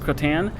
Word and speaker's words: Crottin: It's Crottin, pronounced Croton, and that means horse dung because it looks like a little piece of horse poop.